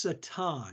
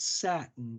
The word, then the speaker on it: Satin: two shampoos in it really Bond and it's pronounced Satan not satin it looks like satin but it's Bon Satan